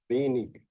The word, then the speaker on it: wenig: Algunas veces tenemos el sonido IG y que se pronuncia, nos dicen como una IJ, pero en otras veces se pronuncia como IK. Y tenemos este ejemplo. Eh, Aquí está como con K.